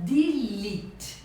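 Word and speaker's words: delete: palavra em português mas em inglês a gente fala dilit os três és tem um som de ir de Elite que quer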